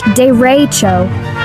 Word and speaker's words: derecho: It's called a dero, pronounced dero.